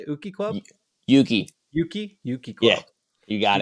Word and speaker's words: Uki: Catch these guys on Saturday, December 7th at Uki. Is that how you say it? Uki Club? Yuki.